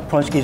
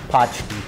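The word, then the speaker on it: pączki: What is the most common mispronunciation? Potchki. Potchki. People call them potchki. Walt made a special request for us. He says you can pair wine with punchki.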